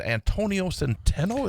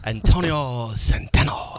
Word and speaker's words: Antonio Centeno: And you had a man named Antonio Centeno, is that? You pronounced that wrong, though, Chad. I- Antonio Centeno. There you go.